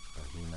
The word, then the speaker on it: Regina: Regina Legaspi. So it's like that. You roll your R's, la la la la la. For those of you who don't have that within the language, that's a good way to get it.